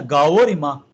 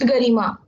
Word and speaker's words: Garima: This is Garima or Gaorima? Sir, it is numerology. My name is according to numerology, so it is pronounced Garima.